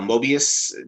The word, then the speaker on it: Mobius: they think that uh i will say his name wrong every single time because it's just the person i am uh mobius did i say his name chris you said